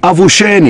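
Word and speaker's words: avuxeni: the same tribe is avulsion e-sports a V you x e and I so the exes are pronounced as Shh so of shin means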